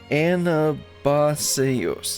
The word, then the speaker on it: Anabaseios: Anabaseios, yes.